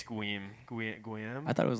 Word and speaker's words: Guillaume: name's Guillaume. I need to get roasted by a French person because probably not even pronounced like that. It's actually Guarm. Guar. There's no R in it.